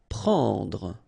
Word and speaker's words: prendre: Prendre. Okay, remember combination of and n. It's what we call nasal, so it goes in your nose and it's en. Prendre.